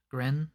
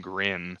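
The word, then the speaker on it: Gren: their name josh friend grin right so it's spelled g-r-e-n but i feel like every time i would heard it they were saying grin so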